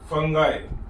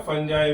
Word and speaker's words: fungi: Number one is bacteria, number 2 फंगाई या फंजाई भी बोलते हैं, बहुत प्रोनाउंसिएशन दोनों, फंजाई।